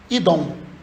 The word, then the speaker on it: Edom: com aquela região não a pronúncia que eles tinham pro nome Edom era idom. Idom.